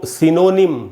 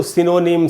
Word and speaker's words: synonym: इसको सिनोनिम नहीं पढ़ना चाहिए। ये जो ओ है दोस्तों, इसको अ पढ़ेंगे, सिनोनिम। तो इसको सिनोनिम, साइनोनिम ये सब बिल्कुल नहीं पढ़ना है। इसका सिर्फ एक ही उच्चारण है और वो बिल्कुल करेक्ट है, और वो है सिनोनिम।